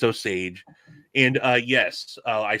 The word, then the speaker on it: Osage: so yes i can never remember how to pronounce these it's osage i always say it wasaj or soggy it's osage and uh yes uh i said he hand